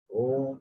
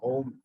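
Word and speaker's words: ओम्: Akaranta, Ukaranta, Makaranta. U, Ma. These three sounds, just put together and Om comes.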